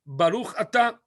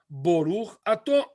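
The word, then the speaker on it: ברוך אתה: Alguns preferiam a pronúncia sefaradita, dizendo Baruch Atah. Alguns preferiam a pronúncia Ashkenazi, dizendo Boruch Ato.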